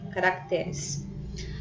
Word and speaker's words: caracteres: Observe que a palavra caráter, o acento está no primeiro ou no segundo A da segunda sílaba. Primeiro A da segunda sílaba, aqui no R, acompanhando o R. Quando eu vou passar para o plural, ela perde esse acento. Nesse caso aqui, perdeu o acento.